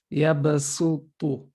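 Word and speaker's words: يبصط: This is telling you that even though this is a sod, written with a sod, it's mostly pronounced as a sin. Yabasu, not yabasu. So it's a light sin with dhamma.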